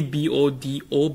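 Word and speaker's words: Bodø: If you spell it, you may think as it like Buddha or like Buddha, which is like BODAH. But it's actually BODO, but with a line at the O.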